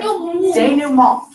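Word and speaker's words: dénouement: It's called denouement. Say it like denouement.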